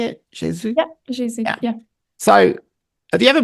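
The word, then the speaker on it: Gesù: Yeah, Jesus.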